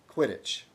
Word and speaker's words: Quidditch: The QU in Quidditch is pronounced normally as in Quidditch.